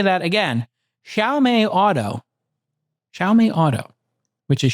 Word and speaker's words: Xiaomi: Xiaomé Auto.